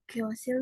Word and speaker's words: 교실: Nah, jadi kan, lalu vokal yo, jadi kyo. Benar ya. Lalu di samping ini S-nya, lalu vokal I, lalu di bawahnya ini L. Jadi bacanya 교실.